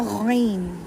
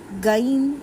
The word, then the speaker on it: غین: یہ تھا خا یا غین، غین، گین یا گ کا ساؤنڈ نہیں دینا. یہ اسکول والی الف بے کا گاو نہیں ہے، یہ ہم قاعدہ پڑھ رہے ہیں. یہ غین ہے، گین اس کو نہیں پڑھیں گے.